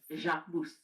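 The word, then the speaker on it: Jacquemus: You actually have to say the S. So it's Jacmus Jacus and if I was pronouncing it the French way the S would be second.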